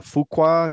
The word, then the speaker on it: Fuqua: I've saw the Remake um the Antoine uh Fuqua is that how you pronounce it yep um uh I saw it